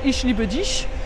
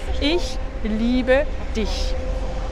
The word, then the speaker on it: ich liebe dich: C'est pas « ich liebe dich ». Ça, si dans certains dialectes, par exemple, dialecte à Berlin ou certains turcs allemands prononcent un peu comme ça, ich liebe dich, mais en allemand, si tu veux prononcer correctement, c'est ich liebe dich.